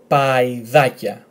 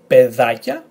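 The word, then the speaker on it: παϊδάκια: So the first word will be pedakia, the second word would be paidakia, not pedakia, paidakia.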